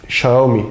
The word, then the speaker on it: Xiaomi: 7 veriyoruz 5 kişiye x ii yazılıyor ya Xiaomi diye okunuyor o bu bilgiyi de